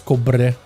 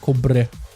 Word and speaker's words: Cobre: I miss Cobre. I like his name too, because I can roll my R's. Cobre. Which is actually, I think, how we'd say his name, Cobre.